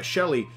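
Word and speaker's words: Sheele: was kind of neat to see because uh Shelly um and and that's how they pronounce it even though it even though it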